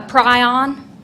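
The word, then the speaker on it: prion: You're saying pryion? Yes. Uh, pryion. How do you spell it?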